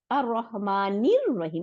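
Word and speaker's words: الرحمن الرحيم: জের জবর নাই, তাহলে নীল লাম উচ্চারণ করলাম না, হামজাতুল ওয়াসল উচ্চারণ করলাম না, কেন? কারণ শামসি ওয়ার্ড, রটাকে ডবল করে দিচ্ছে। তাহলে আর রহমানির রহিম, এটা আপনারা লিখেন, লিখলে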